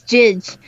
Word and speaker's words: Judge: It's Jidge. Is it Jidge? The great debate of how to pronounce this, but I am fairly certain it is actually Jidge.